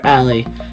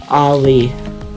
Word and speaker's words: Ali: mouth shut when people wrongly call her Allie instead of her actual name pronounced Ali after the mountain in Taiwan.